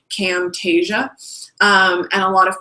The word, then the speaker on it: Camtasia: like to use myself is Camtasia kind of spelled like it SS sounds Camtasia um and a lot of people also like